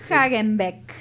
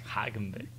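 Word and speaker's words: Hagenbeck: ¿Cómo es? Hagen Beck. Hagen Beck. Hagen. Sí, Heil. Häagen-Dazs, como esos heladitos tan ricos.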